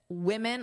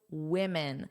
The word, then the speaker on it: women: Notice women of course is the irregular plural. One woman, two women. So notice the pronunciation is similar, but the vowel is different. So although the spelling is the same at the beginning, that's actually where the sound difference is the most pronounced.